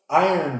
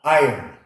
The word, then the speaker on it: iron: Então, iron deficiency. I have an iron deficiency. E olha a pronúncia do iron, tá? Iron, iron.